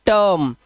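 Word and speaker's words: term: आर तो जर्म ना कि जीर्म इसे जैसे टिरर्म नहीं है इसे पढ़ते हैं टर्म तो इ का उच्चारण आ का ये आ हो गया है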